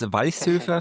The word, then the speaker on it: Walchshöfer: It's Vice Surfer.